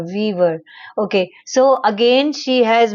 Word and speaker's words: Weaver: It's Weaver, Billy said. W E A V E R. Wever.